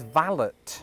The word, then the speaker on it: valet: That word is valet parking. And that way of saying it does exist in Britain. But there is another pronunciation which is valot.